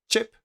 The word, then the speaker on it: chip: So the first one, chip. The second one, ship. Also, pay attention to this letter here. The letter I is pronounced I. So this is ip, ip. It's not eep, it's ip.